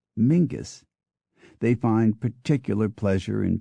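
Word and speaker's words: Menzies: l l is yal m n z i s is Mingus they find particular pleasure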